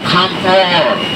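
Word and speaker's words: kantoor: Kantor, Belandanya double O, kantor. Kalau Belanda itu double O tuh dibaca panjang, kantor.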